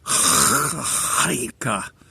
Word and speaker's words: Chanukah: Well, for today, my main idea is to talk about Hanukah, or if you pronounce it properly, it's actually a CH, and it's one of those Hanukah, clear your throat words.